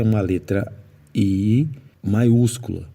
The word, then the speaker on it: I: um pronome em inglês que é o i i Então não é ih mas olha olha e